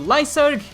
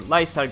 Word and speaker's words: Lyserg: This week we were introduced to Lyserg if we're going with the Japanese pronunciation, but I prefer Lyserg just like I prefer Eliza.